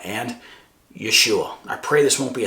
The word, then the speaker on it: Yeshua: I personally pronounce them Jehovah and Yeshua.